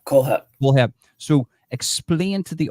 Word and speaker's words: Kohlhepp: Todd Kohlhepp. Kohlhepp.